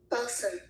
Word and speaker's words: balsam: Oh, B A L SM means and what's the pronunciation? Okay. Balsam.